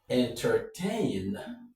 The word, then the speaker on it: entertain: The stress is on tain. So, entertain-ment. I just did that to draw out what the root of the word is. So, the root of this word is en ter tain. Entertain. Entertain is the root of the word entertainment. And in entertain, the stress goes on tain.